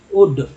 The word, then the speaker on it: would: for who would, इसमें एल जो है साइलेंट है, वुड डब्लू है तो वुड, अगर एस रहता तो